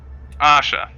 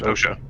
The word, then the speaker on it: OSHA: Asha. OSHA. It's pronounced OSHA.